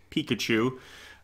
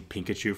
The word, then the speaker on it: Pikachu: trailer reaction before detective Pikachu I have to say it right because I always want to say pink achoo for some reason yeah